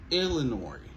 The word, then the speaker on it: Illinois: Illinois. Montez sur première syllabe là. Illinois. Alors, à remarquer, nous voyons comment OIS là, il prononce. C'est pas Illinois, ok? C'est Illinois.